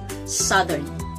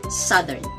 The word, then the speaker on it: southern: is southern southern so even though this does refer to the compass direction south it isn't said the same as in south but it is pronounced as southern southern she is from